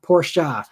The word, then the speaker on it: Porsche: and yeah um anyway Bruce says you always pronounce uh Porsche Porsche I do um because that's the correct correct